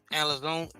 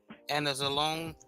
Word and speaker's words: Anzalone: And then Alex Alazone, and I can't pronounce his name, Anzalone.